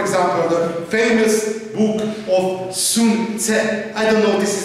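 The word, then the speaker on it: Sun Tzu: Okay, Sun Tse, to my last knowledge, this is the good pronunciation.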